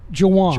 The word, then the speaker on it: Juan: It's spelled like Juan, but you pronounce it Juwan.